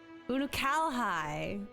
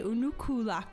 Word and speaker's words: Unukalhai: of the 13th th that's how you say it unukalhai I always say unuku interesting the fate of